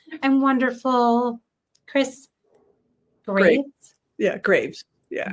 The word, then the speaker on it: Graves: Well, for your French audience, it comes from the word Greaves, which is the shin plate of armor.